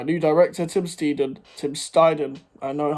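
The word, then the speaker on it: Steidten: huge work by new director Tim steedon Tim steiden I know how to pronounce his name now Tim steiden working side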